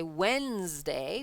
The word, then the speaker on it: Wednesday: Wednesday same thing okay we say Wednesday we don't say the D we say w n s d a what Wednesday but we need the